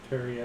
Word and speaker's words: periapt: Is that how you pronounce that? I wish that was Pariapt. What is it? Parafit? That's what I thought. What is the word? It's Periapt. Periapt.